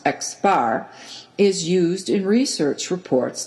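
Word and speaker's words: x̄: total number of subjects the symbol x with a line above it pronounced x bar is used in research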